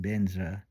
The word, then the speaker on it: Benzra: This is the way a Tibetan Buddhist Lama would pronounce it. Om Benzra.